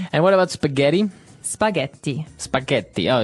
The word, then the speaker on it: spaghetti: what about spaghetti spaghetti spaghetti oh you pronounce the Double T as well that's right okay so